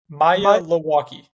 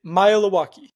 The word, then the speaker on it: Maealiuaki: It's easy if you kind of break it up into 3 kind of syllables and say it fast. Maealiuaki. That's it? That's it. Maealiuaki.